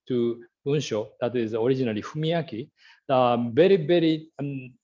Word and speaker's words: 文章: That is a very, very long history, and I changed the pronunciation starting from Fumiaki. When I was young, the parents called me Fumiaki using the same Chinese character, but I changed my name to Bunsho when I was a high school student.